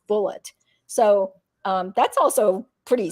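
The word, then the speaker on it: Bulleit: bullet Rye but that that brand of alcohol is pronounced bullet so um that's also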